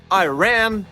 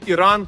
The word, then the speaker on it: Іран: наприклад щоб часто зустрічаю кажуть I wan I Wake на країни Іран та Ірак вони і справді так називається Іран і Рак і ми вірно це